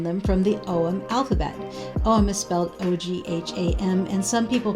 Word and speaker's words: Ogham: have inscriptions on them from the OM alphabet Oh I'm misspelled o-g-h-a-m and some people pronounce it agum but I'm pronouncing it oh I'm and that's